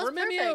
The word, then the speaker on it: Rememeo: Tell me about the new venture, and I'm going to try to say it correctly. Rememeo. You got it. Okay, Rememeo.